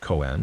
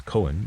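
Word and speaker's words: koan: throwing in a Coen a Coen pronounced Coen or perhaps Cohen even is a paradoxical statement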